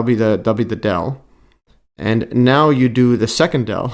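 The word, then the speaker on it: nabla: this upside down triangle written as an upside down triangle and pronounced dell okay this one's also pronounced dell I thought this was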